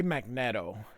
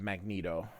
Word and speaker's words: Magneto: called him Magneto because I pronounced the E with an e sound so I wouldn't say